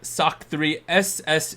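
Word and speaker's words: SSAK3: in Korea yeah if you're not on the sock 3ss a k3 that's how you pronounce it or spell it SS a k3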